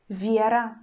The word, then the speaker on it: Вера: and vowel sound E, but in the word like Вера, Вера, Вера, we pronounce consonant sound in the soft way, we pronounce V, V, and then we pronounce just E, it's not already Е.